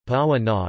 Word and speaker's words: Paraguaná: The Paraguaná Peninsula, Spanish pronunciation, Paraguaná, is a peninsula in